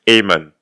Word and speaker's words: Aemon: Ok, Mess Aemon. En plus, tu l'as bien prononcé. Quand tu as un A et un E à côté, ça se prononce E en fait. C'est pas Mestre Aemon, c'est Mess Aemon.